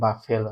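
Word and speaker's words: buffalo: আচ্ছা, এরপরেরটা দেখো আছে cow, goat, ship and বাফেলো। অনেকেই উচ্চারণ ভুল করে, এটা কিন্তু বাফেলো, তাই না?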